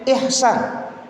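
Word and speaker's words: Ichsan: Tapi kata beliau, ini H Ustaz. Jadi bacanya Ihsan.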